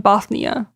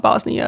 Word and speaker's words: Bothnia: Constantinople, a town in Bothnia. I wasn't saying that with a lisp, it's not Bosnia, it's spelled Bothnia, just FYI.